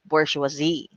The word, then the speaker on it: bourgeoisie: all right even before but the pronunciation of this is bourgeoisie that is right bourgeoisie so it is a